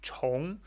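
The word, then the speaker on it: 重: chong in context uh this can also be zhong so when it means much pronounced jung it means heavy but in this case it's chong which means to repeat or you know start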